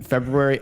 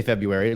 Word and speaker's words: February: February. I used to say February like everybody else, but then I'm like, why is that R sitting after the B? I got to pronounce it.